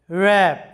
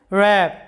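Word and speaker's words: wrap: ডাব্লিউ আর এ পি র‍্যাপ র‍্যাপ আমাদের সাউন্ডটা আসতেছে র‍্যাপ ডাব্লিউ সাইলেন্ট কারণ ডাব্লিউ এরপরে আর আছে মোরানো এটার বাংলা অর্থটা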